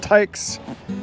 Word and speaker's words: HAIX: it their logo looks h-a-i-x pronounced Tykes Heroes wear hat hikes because uh a lot